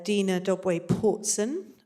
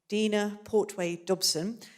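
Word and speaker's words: Dina Portway Dobson: Next to her is uh Dena Doe Portson. Uh sorry I always get her name wrong. Dena Portway Dobson uh who was an archaeologist and a caver.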